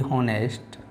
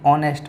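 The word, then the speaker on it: honest: तो देखो यहाँ पर आपका हो जाएगा दी हॉनेस्ट, दी ऑनेस्ट पढ़ा जाएगा, एच साइलेंट रहेगा।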